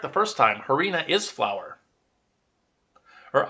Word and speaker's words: harina: correct the first time harina is flower or arena they don't pronounce the h in that language but arena is flower so tortillas